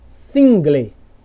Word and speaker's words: single: É como se o L, ó, o L trocasse de posição com a vogal E. Então, sempre que isso acontecer aqui no final das palavras, você não vai pronunciar assim, ó, engle, single, jungle. Não, você vai trocar aqui como se o L fosse para o final.